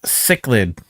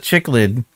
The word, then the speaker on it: cichlid: barrel pronounce cichlid. Yeah, but that's not as much fun as saying uh chicklid and uh getting you to yell at me.